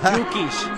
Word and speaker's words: Dukic: Dukic. ¿Eh? Dukic. Es con D. Es la J la que se pronuncia.